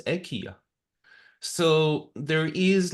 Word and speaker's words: IKEA: It's not pronounced IKEA, it's pronounced EKA.